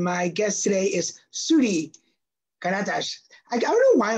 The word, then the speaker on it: Karatas: o'clock Edition and my guest today is sui katash I don't know why I want to say s but K yeah but you pronounced my last name exent that was perfect